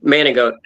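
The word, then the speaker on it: Manigault: nicknamed the goat because his last name man goat but g is how it's spelled but it's French in man managot and the joke is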